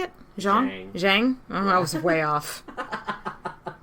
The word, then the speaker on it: Zhang: wu got real sick this time and the zong brothers how do you say it zhang zhang i was way off all right tweedledee